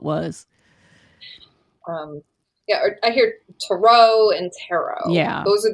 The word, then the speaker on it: tarot: now it's almost like I say tarot it doesn't rhyme with carrot yeah people say yeah